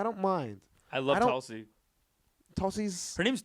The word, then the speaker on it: Tulsi: There's a T that you say with your tongue on the teeth, like the.